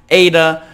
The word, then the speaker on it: Aida: the top like I said easy name to pronounce Ada I then again I verifi this name with